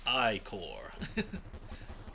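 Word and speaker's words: ichor: tropel chalice I can fill it with magical iore that's pronounced I core choose your iore wisely uh yeah so we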